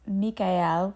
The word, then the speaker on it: Michael: I think this is interesting, but the actual pronunciation of his name is Mika, which sounds more to me like the German pronunciation of the the name Michael, but uh we've all just come to know him as Archangel Michael.